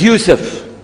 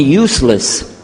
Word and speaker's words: Yusuf: by some other gone my name is Yusuf she say Yusuf make sure you sit very good I wish you teach my wife she keeps mispronouncing it she calls me useless home de left now